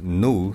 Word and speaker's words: GNU: then we start a new session name it t demo okay you can see I get the first terminal by default enter into the screen uh let me show we pronounce it as new it's easy to pronounce